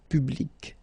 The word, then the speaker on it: public: So public at the masculine form, feminine form, public, the same.